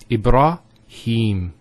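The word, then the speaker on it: إبراهيم: Here the ha has a kasra followed by the ya. So here there's an elongation of the E sound. It's he. Him. Ibrahim.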